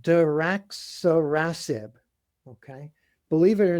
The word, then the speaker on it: daraxonrasib: So I actually looked it up, phonetic spelling and pronunciation. So daraxonrasib.